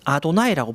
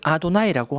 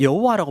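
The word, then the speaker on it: אֲדֹנָי: 불렀어요 그래서 쓸 때는 이렇게 쓰고 부를 때는 아도나이라고 부르는 거죠 그래서 히브리인들은 못 읽기 때문에 제가 발음을 아도나이라고 하는 거예요 그래서 영어식 표현으로는 yhwh가 됩니다 그래서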